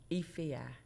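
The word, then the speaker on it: Efia: How do you pronounce her name? Ei. E F I A. Ei.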